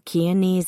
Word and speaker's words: Keany: Gail Keany rhymes with easy was pregnant.